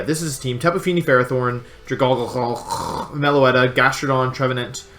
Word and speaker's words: Ferrothorn: are coming Feeny Ferrothorn that's a stupid pronunciation it's Ferrothorn Ferrothorn meloetta it's three mega